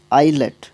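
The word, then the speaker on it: islet: भी आएगा बाकी वह आइज आईलेट आइज नहीं पढ़ते उसको एस नहीं पढ़ते इसमें बट एस स्पेलिंग में आता है आईलेट आईलेट होता है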